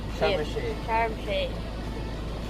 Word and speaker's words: Sharm El-Sheikh: How do you pronounce Sharm it? El-Sheikh. Sharm El-Sheikh. Sharm El-Sheikh.